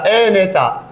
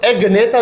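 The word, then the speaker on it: Agnatha: ए नेता, ये जी साइलेंट है, या बाज लोग इसको एग नेता भी कहते हैं।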